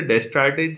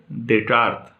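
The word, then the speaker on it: Descartes: डेकार्ट को आप ऐसे पढ़ेंगे, स्पेलिंग के हिसाब से डेस्टार्टेज जैसा लगता है, लेकिन क्या पढ़ेंगे, डेकार्ट।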